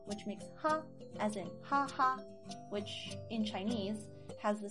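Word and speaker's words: 哈哈: Only in Chinese, be careful to say it in the first tone. Ha ha, not ha ha, or ha ha, or whatever. I mean, technically you could say it that way, but the accurate way to pronounce the words that you see on the screen is ha ha, first tone.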